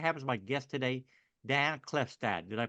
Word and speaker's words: Klefstad: and M to have as my guest today Dan clefstad did I pronounce that right Dan yes sir all right